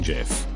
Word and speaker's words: GIF: know but Priceless that it's pronounced GIF not GIF God himself could come